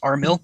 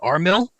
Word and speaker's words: Armil: way to pronounce it armill in fact a real Mecca's love is armill RM i l there you go we we like to pronounce it armill since it sounds like mill as in military yeah well this one